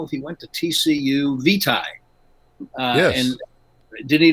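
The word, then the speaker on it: Vitai: mean his last name is v v-i-t-a-i it's pronounced vitae the first name was multi-multi-syllabic and i i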